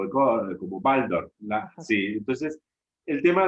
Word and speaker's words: Waldorf: yo, mirá, es muy latino decirle Waldorf con la W, pero como Rudolf Steiner, alemán, entonces se pronuncia como Waldorf.